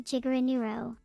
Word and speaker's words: GIGANEURO: My superhero name would be GIGANEURO. Pronounced like a gigabyte.